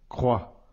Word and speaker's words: croix: ne se prononce pas croix là aussi le X en fin de mot ne se prononce pas passons maintenant à une